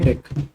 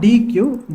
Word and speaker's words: deque: so what is dech it is not DQ it is pronounced as deck it is not DQ it is pronounced as